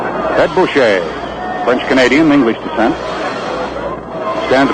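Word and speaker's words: Bouchee: I think the pronunciation for his name actually is Bush.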